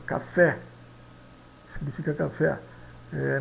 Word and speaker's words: café: escrito Ó café significa café eh não é cafê é café tá esse e aqui é